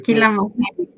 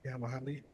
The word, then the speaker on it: kila mahali: Lakini Kila mahali. So ulizungumza na watu wote kila mahali. kihama ki Ndio. kihama. How do you say that again? Kihamahali.